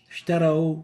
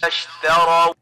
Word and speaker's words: اشتروا: So we barely can hear the sheen. And the right way of pronouncing it is اشتروا. اشتروا. So we need to make sure to pronounce the sheen clear enough.